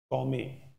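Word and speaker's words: gourmet: इट हैज टू be spoken as गौमे, गौमे. Okay, are भी silent है, टी भी silent है, गौमे.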